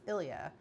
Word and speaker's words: Ilya: pronounce in English as Ilia. Um there's an indication that the pronunciation stress is on the yah. So it's ilyah and more almost like and they said the L is almost silent.